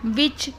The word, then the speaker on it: which: विच, विच में भी आपने देखा होगा WHICH की स्पेलिंग है, जिसमें डब्लू को नहीं पढ़ा जाता।